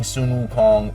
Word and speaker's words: Sun Wukong: And uh so we will be pronouncing Sunun Wu Kong properly from here on out on the channel.